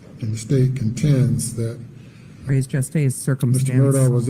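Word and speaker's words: res gestae: under the theory of res geste or res gesti, as some might pronounce it.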